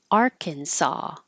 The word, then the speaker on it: Arkansas: cansas and this one Arkansas so even though you see the same letters in the same order they don't sound the same at all Kansas and Arkansas this ch here sounds